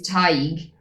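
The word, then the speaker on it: Tadhg: Actually- The proper pronunciation is Tig.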